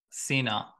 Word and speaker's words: Cena: Cena. Yeah. Cena. Okay. Cool. Yeah. Like all John right, Cena, dude, awesome. Slightly different physique, but that you get the pronunciation.